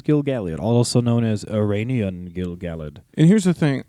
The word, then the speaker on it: Gil-galad: also known as Ereinion Gil-galad. And here's the thing. I grew up saying Gil-galad. And for this episode, I'm going to try to say Gil-galad because I'm pretty sure that's the correct pronunciation, yeah?